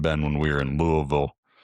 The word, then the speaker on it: Louisville: I think it might have been when we were in Louisville. Yeah, Louisville. You got to say it like that. You can't say Louisville. Got to say Louisville.